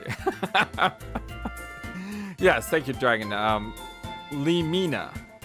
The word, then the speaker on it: Lemina: Lemina. Lemina is how you should say her name.